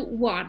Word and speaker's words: one: 1285 the question is why do it one is pronounced with what because you know uh the beginning is o so you also have on but you pronounce it on so when it comes to one why don't you pronounce it like only why it's all becomes one sound that is a